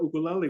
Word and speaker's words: ukulele: Ukulele. That's the right pronunciation. It should be ukulele. Ukulele. Ukulele. Ukulele. Lele. L-E-L-E. Lele. Lele. So uku is a flea. Uku is the flea, and lele is dancing.